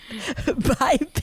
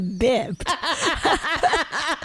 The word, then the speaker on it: biped: My highlights are the time when Marcy mispronounced biped as bipped.